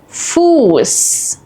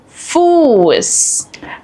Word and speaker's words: Fuß: While both are pronounced the same unvoiced S, they affect the vowel before them. A double S shortens the vowel and an SZ lengthens the vowel.